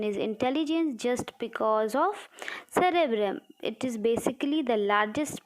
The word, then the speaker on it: cerebellum: After this, let us see the cerebellum. So let us learn how to pronounce. This is cerebellum, that was cerebellum.